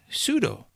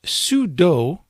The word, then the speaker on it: sudo: And some people pronounce this sudo, including me at times, and some people call this sudo. But it works the same way no matter how you pronounce it, so you'll hear me pronounce it both ways throughout this series.